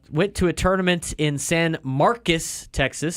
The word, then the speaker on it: San Marcos: to a tournament in San Marcus Texas spelled like San Marcos but they say San Marcus uh lost to Texas